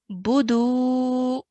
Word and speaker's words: فَلْيَعْبُدُوا: First is the ba has a dhamma, so only going to be pronounced for 1 count, okay? Bu, no longer than that. And then the dal is going to be pronounced for 2 counts because of the waw mud. So we're going to say budu. Budu.